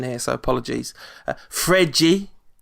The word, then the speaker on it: Fred: Fregi scored a goal. Apparently it's not Fred.